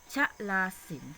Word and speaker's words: ชลาสินธุ์: สันสกฤต นะ คะ ชลาสินธุ์ ชลาสินธุ์ ก็ จะ มี ทอ ทง สะ อุ แล้ว ก็ การันต์ ใช่ ไหม คะ เรา ก็ ไม่ ออก เสียง ตัว ทุก ว่า ตัว ทอ ทง สะ อุ นะ คะ ซึ่ง มัน